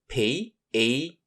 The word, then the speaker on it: penguin: The U here is actually pronounced, and the word is split into two parts, peng and win. So P-E-N-G for peng and U-I-N for win. Put them together. So P-E-N-G-U-I-N spells penguin.